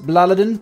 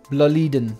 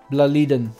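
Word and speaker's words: BLÅLIDEN: with seven Ikea bledans now I used to pronounce it baladin but then a um Martin from Sweden reached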